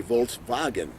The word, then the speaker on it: Volkswagen: So instead of saying Volkswagen, like we would say in America, they would say Volkswagen. They pronounce the W as a V.